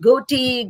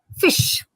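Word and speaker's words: ghoti: you might have said goatey gty or some of you might have thought of it as hotty whatever it is let me tell you it actually stands for fish now if you take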